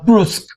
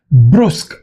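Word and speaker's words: brusque: Next is uh brusk brusk. B r u s q ue e. Br. Please pay attention to the pronunciation because these words um are little difficult to pronounce.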